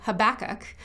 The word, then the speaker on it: Habakkuk: A prophet, a book in the Bible, we sometimes call Habakkuk, or as it's pronounced by some, Habakkuk.